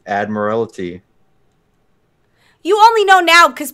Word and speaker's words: Admiralty: say Proudmoore wanna bet it's not admire it's that admire it's Admiralty you only know now